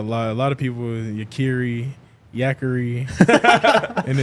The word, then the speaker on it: Yakiri: I asked Yakiri before the show how to pronounce his name, and it is Yakiri, not Yakiri.